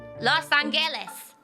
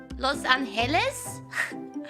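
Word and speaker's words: Los Ángeles: angeles is it no it's pronounced with an h sound los angeles the angels wow city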